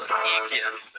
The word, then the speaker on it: Yggdra: So today we're playing, and pronunciation could be butchered on this, Yggdra Union, Will Never Fight Alone. Yeah, so it's Yggdra.